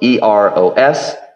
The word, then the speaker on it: Eros: It is spelled E-R-O-S, pronounced Eros, and is a Greek word for love.